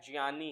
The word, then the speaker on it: ज्ञ: और र से ज्ञा सब क्या बोलते हैं इसको ज्ञानी जैसे ज्ञानी जसे ज्ञानी नहीं होता जैसे ज्ञानी होता है इसका जो सही उच्चारण है वो क्या है ये ज प्लस य से मिलके बना है ज यह क्या है जनी है जनी ज प्लस य से मिलके जनी ठीक श श और रा